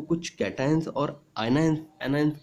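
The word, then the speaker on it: cations: देखिए बेटा ये स्पेलिंग देखने के बाद हम लोग इसको कैशंस भी बोल सकते हैं, लेकिन कैशंस नहीं बोलना है हम लोग को। इसका प्रोनाउंसिएशन कैटायंस होगा और इसका एनायंस होगा, ठीक है।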